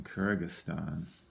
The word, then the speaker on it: Kyrgyzstan: a little bit challenging on the spell in kyrgyzstan now i think i can fit it right